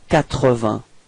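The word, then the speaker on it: quatre-vingts: Alright, so final S, T and G are not pronounced. Okay, and then remember that Q and U give you the sound k, so you get 80.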